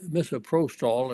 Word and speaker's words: misoprostol: very well now misoprostol misoprostol is how it's pronounced I think is really